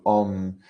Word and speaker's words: Om: You know, Om is comprised of 4 syllables as a vibration, as a fluctuation. First sound is the A, it's A-U-M. Second, U. Third, M. Fourth syllable, the inexpressible, the ineffable, is symbolized by silence.